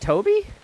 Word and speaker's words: Tobe: Okay, Nick says it's Toby. Okay, it is Toby.